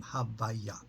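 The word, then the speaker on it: הויה: So whenever we're referencing the name, we don't just say Yud K Vav K, we call it the name Havaya. The letter Hey we always pronounce as a K.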